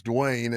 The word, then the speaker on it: Duane: Well, let me spell it out because Dwayne, my name's Dwayne and it's spelled like five million different ways.